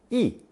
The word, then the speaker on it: 衣: It's pronounced fourth tone, 衣, and means the hem of a garment.